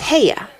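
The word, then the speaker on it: Haigha: does them when he's happy his name is heya he pronounced it so as to rhyme with mayer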